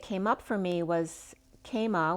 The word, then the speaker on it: kama: up for me was kama which is in sanskrit love it's k-a-m-a with a long a k-a-m-a which is very